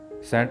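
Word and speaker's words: scent: है सेंट यानी खुशबू सेंट में सी से पहले एस आ रहा इसलिए सी जो है साइलेंट वर्ड होगा सेकंड वर्ड है साइंस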